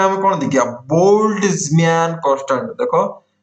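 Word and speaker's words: Boltzmann: तापर आसीबो 30 नंबर रे हम कोन देखिया बोल्ट्जमैन कांस्टेंट देखो उच्चारण करला को बहुत कष्ट लगे किंतु टेंशन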